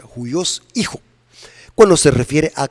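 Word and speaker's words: υἱός: el griego se usa la palabra judíos así se pronuncia judíos hijo bueno se refiere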